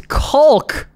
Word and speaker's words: caulk: It's caulk. Caulk. It's cock. It's caulk. We've been over this. It's caulk. It's pronounced. Isn't it? The L is silent. It's like salmon.